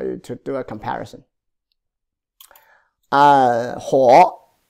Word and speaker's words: 火: Ho, pronounced as a ho. Yeah, good. It's a third tone.